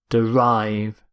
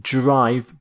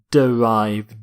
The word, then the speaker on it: derive: next word is derive derive not note the pronunciation not drive but derive derive if something is